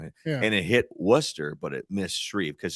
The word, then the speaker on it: Wooster: it went further to the south of Canal Fulton and it hit the Wooster area, right?